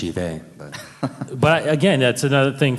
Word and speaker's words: Sheev: Yeah, it's pronounced Shive, but again, that's another thing from the And prequels H2.